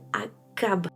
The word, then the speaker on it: Achab: En français, le roi d'Israël s'appelle Akab, même si ça s'écrit Achab, alors qu'en anglais, il est marqué Ahab.